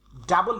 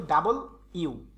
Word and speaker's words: W: টি, ইউ, ভি, ডাবল ইউ, ডাবলু না, ডাবল ইউ, উচ্চারণ হবে ডাবল ইউ।